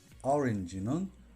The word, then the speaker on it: orange: 어쨌든 orange는 R의 발음 자체도 중요하지만 강세 없는 모음 A가 약화되어 또는 E로 되는 것이 더 중요합니다. 그러면 자연스럽게 orange로 발음할 수 있을 것입니다. 절대로 오렌지는 아닙니다.